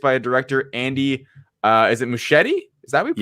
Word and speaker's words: Muschietti: Is it Muschietti? Is that what we pronounced it? You got it. Yeah. Andy Muschietti, you know, and the Muschietis.